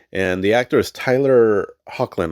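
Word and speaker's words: Hoechlin: And the actor is Tyler Hawklin, I believe is how you say his last name.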